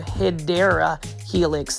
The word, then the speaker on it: Hedera helix: Again, this one right here is a Hydra Helix. This one is the Gold Stern Hedera Helix. That's the correct way to say it.